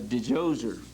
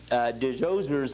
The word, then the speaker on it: Djoser: day they had this pharaoh whose name was Djoser. And his name is spelled different ways depending on how it's transliterated, but most commonly it's D-J-O-S-E-R.